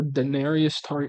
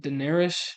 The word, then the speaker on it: Daenerys: bro just had a thing for Daenerys D. How do you say her name? Daener Daenerys.